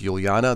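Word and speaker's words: Ulyana: linux mint 20 beta test let's take a look all right so linux mint 20 i believe it's pronounced juliana the mate edition this is a five-year support release supported until 2025.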